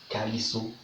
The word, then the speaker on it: caleçon: Alors, le caleçon, ici au Comores, on prononce comme ça. Calisso. Ici au Comores, on dit calisso. Caleçon, calisso.